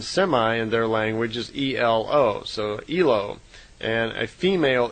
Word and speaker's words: Elo: And semi in their language is E-L-O, so Elo.